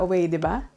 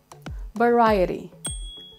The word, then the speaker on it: variety: it might look simple right variety variety store variety show we usually say that vediba but it should be variety variety number 13.